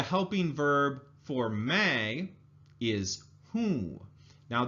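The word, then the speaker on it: हूँ: verb form a is who now this is also one of those nasal sounds when you hold your nose you should feel it vibrate when you say whoo-whoo right so may Who I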